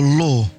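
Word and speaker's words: lore: We have what we call law and we spell it differently. It's L O R E and it's law of the land.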